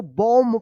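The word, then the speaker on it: bomb: बॉम्ब पढ़ेंगे। बॉम्ब यहां पे क्या है? एम के बाद लास्ट में देखिए बी आया है तो बी क्या रहेगा? साइलेंट रहेगा। एम का उच्चारण होगा।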